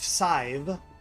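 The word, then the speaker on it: Sadhbh: Chad's wife, Sive, spelled S-A-D-B.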